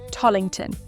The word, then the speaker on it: Tallington: In my sort of posh sounding southern English accent, I pronounce this place Tington. Do excuse that, won't you? See you shortly. Okay, so we're beginning our walk around Tington at the River Wellland,